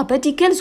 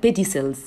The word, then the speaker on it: pedicles: خلي بالكم من معلومة إن البيتيكلز في بنطقها بيتيكلز وفي بيقولوا عليها بيديسلز بيديسلز، ماشي؟ فهتسمعوا ده وهتسمعوا ده خلاص.